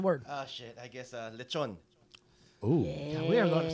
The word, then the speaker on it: lechon: I guess lechon.